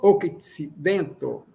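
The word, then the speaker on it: okcidento: Centro octidento octidento, né? O C tem um som de TS.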